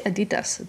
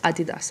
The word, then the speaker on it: Adidas: Now, I don't know if these Adidas, why did I say Adidas? The actual correct pronunciation is Adidas, and I know that.